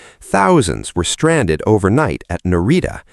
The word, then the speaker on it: Narita: Thousands were stranded overnight at Narita, pronounced Na-ri-ta, the region's main airport.